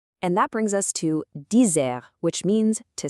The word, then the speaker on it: dizer: And that brings us to dizer, which means to say. Notice that the phonetic spelling is a bit unique. It's actually not a hard D sound at all.